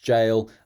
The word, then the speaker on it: gaol: That is just pronounced jail, but it is the medieval England version of it.